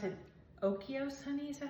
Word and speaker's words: Oikos: I'm using my, I think you pronounce it Oikos, honey, is that how you say it?